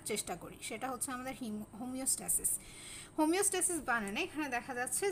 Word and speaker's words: homeostasis: এই টপিকসটার যেই প্রোনাউন্সিয়েশন আছে সেটার উপরে আমাদের একটু বিশেষভাবে নজর দিতে হবে, বিকজ হোমিওস্ট্যাসিস এবং হিমোস্ট্যাসিস এই দুটো ওয়ার্ড সম্পূর্ণ আলাদা।